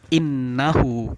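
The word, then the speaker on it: إِنَّهُ: Ini seperti ayat kedua tadi yaitu wa ra'aitan nas, cuman ini bunyinya adalah innahu. Dia sama-sama huruf nun dan huruf nun termasuk dalam huruf gunnah. Kemudian cara bacanya adalah didengungkan, ditahan. Innahu, bukan innahu. Kalau innahu salah, yang benar adalah innahu.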